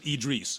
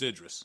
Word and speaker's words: Idris: the podcast okay and they said do not pronounce it eid Reese or Idris its Idris huh ok so now